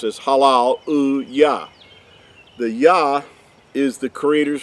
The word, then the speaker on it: Yah: Creator's name right here, the Yod and the He, would give you the pronunciation of Yah and not Ye.